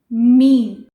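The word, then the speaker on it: meme: तो इट इज़ मीन, नॉट मेमे, मीन।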